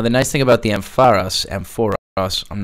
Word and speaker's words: Ampharos: the future is going to proceed but it's pronounced Ampharos apparently feels very strange to say so I'm going to keep saying I'm for us because I'm an idiot and I did it